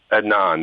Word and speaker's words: Adnan: Adnan, that's it.